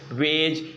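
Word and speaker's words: wedge: Silent होता है आपका, जी से पहले अगर आया है अक्षर, ठीक है ना, पहले आया है तो हम डी को क्या पढ़ेंगे, साइलेंट पढ़ेंगे।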